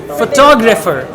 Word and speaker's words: photographer: now she's saying photographer so this is what we call stress pattern the right pronunciation is photographer photo griffer right if